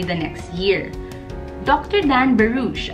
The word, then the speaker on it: Barouch: Dan Barouch, I actually researched how to pronounce his last name. It spells B-A-R-O-U-C-H. Dr. Dan Barouch. That's like Barouch.